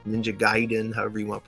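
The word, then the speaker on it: Gaiden: uh n the ninja gayen ninja giden however you want to pronounce it we called it gayen back then we didn't know giden or Side Story or whatever it was gayen to us um I think ninja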